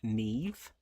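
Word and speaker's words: Niamh: And this one is pronounced neve.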